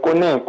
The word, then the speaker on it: Koné: Koné qui nous appelle de Yopougon. Bonsoir. Oui, bonsoir la team. Bonsoir, monsieur. Koné. Bonsoir, monsieur Koné. Oui, c'est Koné, c'est pas monsieur Koné.